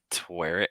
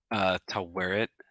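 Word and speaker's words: Taweret: yes that is uh twere it yeah i don't want to mispronounce her name um to wear it i believe it's how it's pronounced she is the goddess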